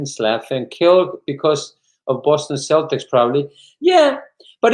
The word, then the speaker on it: Celtics: killed because of boston celtics probably yeah but even just the cel here is pronounced as cell you know cell double